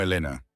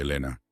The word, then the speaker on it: Elena: Me llamo Elena. Yo me encargaré de usted esta noche, Elena. Probó el nombre, notando el ligero énfasis que ella ponía en la segunda sílaba.